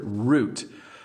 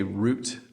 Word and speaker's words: route: Now this word route you may hear it pronounced route. So route or root. We say root uh most of the times in Canada and itinerary is a bit of a challenge.